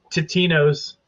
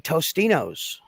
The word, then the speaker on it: Totino's: I thought it was Totino's. Yeah. No, that is what. No, it is. It is Totino's. I, on the other hand, remember it being Tostinos.